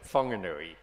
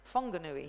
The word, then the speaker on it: Whanganui: Zealand I swear sorry whanganui whanganui yeah oh yeah um it was it it's one of those language things where we're actually learning to pronounce things as the indigenous people absolutely um in lane